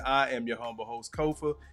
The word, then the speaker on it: Kofa: Again, I am your humble host, Kofa, K-O-F-A, not coffee, not kufu, not Kofi, or any variation thereof. Kofa rhymes with sofa, easy to say, easy to spell.